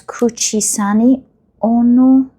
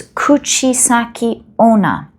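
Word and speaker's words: Kuchisake-onna: Narcissists, as well as Kuchisani Ono, I think, the Japanese spirit. Let me double check the name so that I don't say it wrong. Hold on. No, it's Kuchisaki Ona, who asks passerbys, the men, do I look beautiful?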